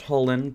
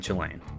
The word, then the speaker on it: Chulane: his chilean deck and yes i am aware it is probably pronounced holland but i just prefer saying chilean anyways this deck is